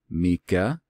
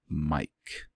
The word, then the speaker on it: Micah: would tell you that I think his name would be more appropriately pronounced either Myka or just Mike so the passage is in Micah 7 and it is